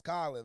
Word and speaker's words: Khalen: I know it's not Khalen, though. It's not Khalen. It's Khalen, baby.